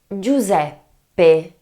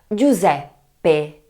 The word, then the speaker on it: Giuseppe: The difficulty lies in the first three letters of the word of this name: G-I-U remember is always pronounced in Italian and then there is the problem of the double P - a problem in